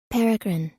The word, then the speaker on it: peregrine: google that real quick it looks like peregrine peregrine yep it's peregrine hell yeah i got